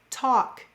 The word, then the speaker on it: talk: Did you know that in words like walk, talk, and chalk, the L acts kind of like a silent E, except it's a silent L. And it's cluing that vowel to say its broad sound.